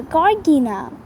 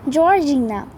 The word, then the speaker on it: Georgina: name something funny yes a corgina sorry mispronounced georgina how old would she